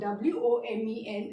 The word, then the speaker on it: women: Always keep in mind, W-O-M-A-N is pronounced as woman and W-O-M-E-N is pronounced as women.